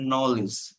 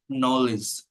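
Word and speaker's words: knowledge: যদি পয়েন্টটা একটু দেখি শব্দের শুরুতে কে এন থাকলে তার উচ্চারণ হবে ন অর্থাৎ কে অনুচ্চারিত থাকে যেমন নলেজ নলেজ অর্থাৎ কে কিন্তু উচ্চারণ হয় না তাই না নাইট অশ্ব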